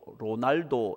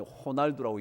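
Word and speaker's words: Ronaldo: 뭐 저쪽 사람이에요 예 근데 영어로는 r o l n a l d 로날도 이렇게 있는데 그게로 아니 호날두라고 읽는다고 아시죠 예 긴장을 풀게 하기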